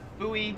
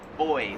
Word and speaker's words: buoy: floats in the water we pronounce that buoy here in Australia they pronounce it boy like honestly I've never